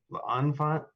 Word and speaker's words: L'Enfant: How do you say it, Wax? L'elephant? L'enfant? L'enfant. L'enfant? L'enfant? It's kind of like croissant, but with an L.